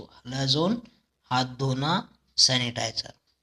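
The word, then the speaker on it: Halazone: तो ऐसे करके ये हलाजोन, देखो हाथ धोने, ऐसा बोलिए हलाजोन को, हाथ धोने, हाथ धोने से ऐसा प्रोनाउंस करिए इसको, हलाजोन, हाथ धोना, सैनिटाइजर।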